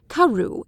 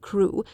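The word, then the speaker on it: Crewe: difference in the name madame pascal pronounced it as if it were karu instead of crew but that might merely be a matter of pronunciation the circumstances were curiously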